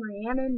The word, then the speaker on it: Rhiannon: you pronounce my name different or same spelling does not mean same pronunciation it's not quite accent if it's actually a different like vowel smell sounds uh deal with it so I'm Rhiannon not Hannah or not Rihanna not